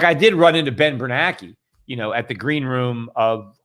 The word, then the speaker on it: Bernanke: Like I did run into Ben Bernanke, at the green room of, I think it was, what's his name? Scaramucci conference, SALT conference in Vegas. That's where I met Bernanke.